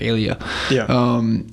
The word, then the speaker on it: Elia: 963 is not Elia. So it's Eli, dude. The A is silent. It throws everybody off.